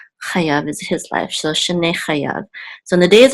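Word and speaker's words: שני: Shene means years of. Okay, shana is year. Shanim would be years. Shene is years of. Years of. This munach right here tells us the accent on the last syllable.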